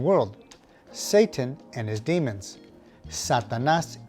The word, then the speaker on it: Satanás: Number 1, the word for Satan is Satanás. Now, make sure you put the emphasis on the last syllable, Satanás.